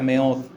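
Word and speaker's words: מאד: La palabra hebrea para fuerzas es una palabra que se pronuncia meod.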